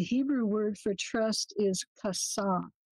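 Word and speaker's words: חָסָה: The Hebrew word for trust is kasah. It's spelled C-H-A-S-A-H, kasah, to make someone a refuge.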